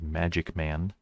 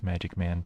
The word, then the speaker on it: MaqicMan: makik man uh though that Q looks like a g so it's probably meant to be pronounced as magic man Aunt Taylor makes me